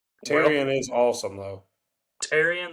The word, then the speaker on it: Tyrion: Tyrion. That's how you say it.